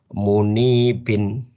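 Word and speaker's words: منيب: alinabah dalam bentuk kata munibin ulang coba diikutin munibin Iya munibin Nah nanti ini kalau di dalam bacaan Quran bacanya munib gitu ya ahah jadi gitu Nah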